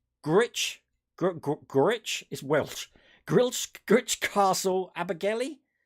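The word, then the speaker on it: Gwrych: But you went to, let me pronounce this right. Gritch is Welsh.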